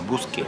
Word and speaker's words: bruschetta: Bruschetta. I say it like the Italiano, brusche.